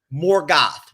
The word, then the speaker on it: Morgoth: Morgoth with an O.